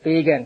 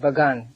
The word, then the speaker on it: Pagan: It is not pagan but Ban. It is spelled P A G- A N.